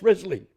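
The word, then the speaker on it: Wriothesley: Risley third Earl Southampton um you know that's pronounced Risley yeah don't you love the way the Brits spell the evidence shows that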